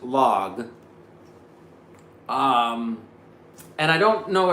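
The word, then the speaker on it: LAG: It's an L A G. It's a French company, and I think it's pronounced log.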